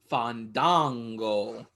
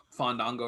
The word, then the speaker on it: Fandango: Next up, we are teased with the debut of Fandango. Better say it right, Justin Roberts, or he will not wrestle. And feel it and let the A's breathe.